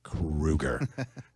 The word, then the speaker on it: Kroeger: in interviews that says, just spell it out phonetically, Crew, next word Ger. It's Kroeger.